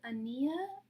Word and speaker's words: Annayia: How do I pronounce? Is it Ania or Annayia? pronouncing your name right now. Annayia.